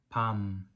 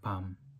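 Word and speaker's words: 밤: this means uh Chestnut then you have to pronounce these words are longer like Palm but when this means a night you have to say this shorter like Palm um actually uh uh with Korean we don't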